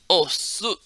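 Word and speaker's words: 押忍: You pronounce it the way it's spelled, but uh, it's su. Oh, su.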